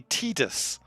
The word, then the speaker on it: Tidus: bob how you doing tied like the water fake no it's apparently tidus that's the official one and i'm like tita sounds stupid but that's what it is it's stupid p5 yeah